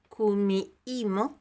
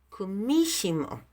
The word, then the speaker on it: Kumihimo: En español diríamos Kumihimo, porque la H es muda. Es una técnica japonesa, un telar japonés. En verdad en japonés lo dirían Kumishimo. Así es como lo pronunciarían en japonés, Kumishimo.